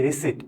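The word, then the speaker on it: receipt: ওয়ার্ডটা কিন্তু রিসিভ না এটার উচ্চারণ হয়ে যাবে কি রিসিট এটা সাইলেন্ট থাকবে তো এটা খুবই সহজ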